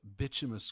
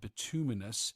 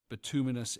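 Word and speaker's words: bituminous: I've always called it bitimus coal and subbitimus based on how I was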